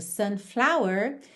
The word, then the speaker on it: sunflower: Por exemplo, sunflower teria flower, a sílaba tônica no fla.